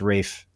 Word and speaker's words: Ralph: It's pronounced Rafe.